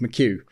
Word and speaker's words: McHugh: But I heard a much better explanation later on when someone said to me, "Did you name it K2 because it rhymes with McHugh?"